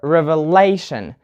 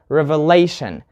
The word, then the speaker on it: revelation: You say television or revelation. You put the stress on lay, revelation.